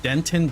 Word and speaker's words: Denton: I think that guitar player lives in a place called Denton, Texas. I mean, guitar player just tipped today, right? Hey, that rhymes with Renton. So it's called Denton. It's called Denton, Texas.